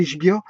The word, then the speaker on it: Ichbiah: Voilà, donc solfège de Daniel Ishbia, nouvelle méthode simple. Ishbia s'écrit I-C-H-B-I-A-H.